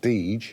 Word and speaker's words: Deger: Deger's, or now it's pronounced Deege, their two sons got on very well, so they actually started up on their own.